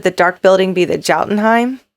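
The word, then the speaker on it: Jotunheim: dark building be the jaltenheim did i say that right yotenheim the odin i would always think that odinnine would be spelled with an o it's yotenheim it's a stupid name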